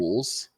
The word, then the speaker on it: Eberflus: Eberflus, Thank you.